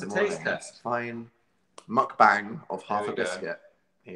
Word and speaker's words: mukbang: It's pronounced mukbang, said someone.